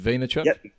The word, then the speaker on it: Vaynerchuk: about Gary V Gary vaynerchuk that's how you pronounce his surname right is it vaynerchuk yeah yep yeah so he's also known by